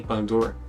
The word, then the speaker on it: Baldur: so cool and I'm not sure if I'm pronouncing Baldur is it okay Baldur yes and as for Ori calcum this bait